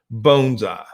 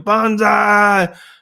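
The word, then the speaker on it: banzai: out of an airplane bonsai well that's BA in first three letters and bonsai is Bo in bonsai so roughly translated it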